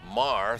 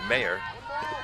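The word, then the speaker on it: Maher: one strike to mayer and it's m-a-h-e-r i pronounced it mar throughout most of her first year of varsity basketball she was too polite to tell me her parents finally did it's mayor these these polite kids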